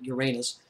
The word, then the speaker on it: Uranus: Some people pronounce it Uranus. I pronounce it Uranus.